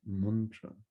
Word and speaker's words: mantra: the same mantra mantra in case you don't know how to pronounce it it's muntra we'll take the maha